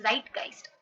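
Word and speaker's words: Zeitgeist: model एक है आपका ज़ाइटगाइस्ट मॉडल ओके इसको कैसे प्रोनाउंस करते हैं इट्स ज़ाइटगाइस्ट ओके ज़ाइटगाइस्ट जो है वो एक जर्मन वर्ड है ओके तो सबसे पहले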